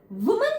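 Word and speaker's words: woman: सो वुमेन जब भी हम यूज करते हैं हमेशा उसका प्रोनाउंसिएशन वुमन होता है, वुमन, और इसका विमेन, राइट।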